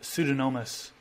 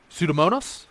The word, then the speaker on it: pseudomonas: immune response coming from them okay how about pseudonomus i pronounce that one right pseudomonas pseudomonas that's going to be one that lives